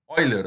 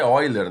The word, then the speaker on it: Euler: A fórmula de Euler, né? Sabiam que a pronúncia correta é Euler, né, pessoal? A gente, a gente lê Euler ali, mas aí a gente descobre depois, né,